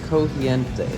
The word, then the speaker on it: crujiente: Cogiente.